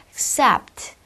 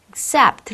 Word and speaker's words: accept: 들린다는 얘기예요 다음 accept 역시나 강사 이음절이므로가 아니라 accept accept 발음이 나겠죠 다음 마지막 어 이벤트라 단어도 이벤